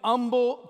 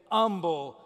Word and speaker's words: Humble: fire department shows up he was born in humble texas i would have said humble texas but